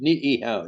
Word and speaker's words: Niihau: Like the island that's off of Kauai, Niihau is pronounced Niihau. You pronounce both I's.